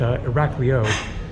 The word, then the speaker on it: Iraklio: the two spellings but Iraq leo probably still off a little bit but that's generally how you say it cool Ali right